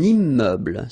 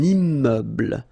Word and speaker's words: immeuble: Un immeuble. So you can see I'm making this little liaison between the two. Un immeuble. Final E, not pronounced.